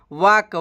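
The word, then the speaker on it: walk: अगला मीनिंग है दोस्तों डब्लू ए एल के यहां पर दोस्तों एल साइलेंट हो जाता है डब्लू एल के में एल साइलेंट हो जाता है और हम इसको बोलते हैं वाक वाक का मतलब होता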